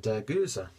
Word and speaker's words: Gueuze: I did have to quickly look up how to pronounce the actual style of beer, and Gueuze, I think that's how it's pronounced, not to be mistaken with Goes or Gozer.